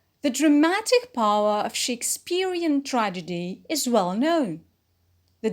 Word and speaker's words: Shakespeare: Shakespeare is a noun, so we put the stress on Shakespeare.